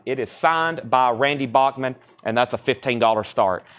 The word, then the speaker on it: Bachman: by Randy Bachman or as I think he prefers his name to be pronounced Bachman I've always said Bachman Bachman Turner overdrive but